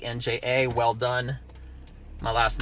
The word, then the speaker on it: Welldone: I'll say it again it actually is pronounced well done but phonetically but it's not written that way so that's why I spell it that way people are like is that how it's spelled no but that really is my last name that's that's actually how it's pronounced but everybody just pronounce it welded and and I don't